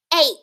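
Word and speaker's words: eight: That long A sound is at the beginning. A. Then we hear that T sound.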